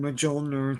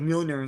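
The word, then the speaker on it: Mjolnir: though yeah of course I didn't know how to pronounce it it's just always been Moler to me and then when it in the movies they're like milon like oh I guess that's what it is man I don't know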